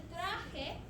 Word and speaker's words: traje: El traje. The J sounds like an H.